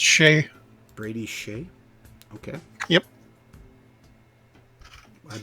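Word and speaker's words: Skjei: oh apparently say sh it's pronounced Shay Brady Shay okay yep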